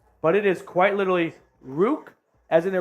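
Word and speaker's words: Ruke: for all figure out how the heck you pronounce ruk oro's name Rook I like that from time man I bet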